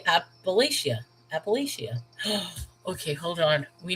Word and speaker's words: Appalachia: I told you, with a lot of things, I usually like do an ah sound. So Appalachia.